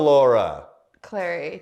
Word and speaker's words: Clery: yeah it's clearly clearly well people would think it's celery for a long time cuz it's c l e r y and if you just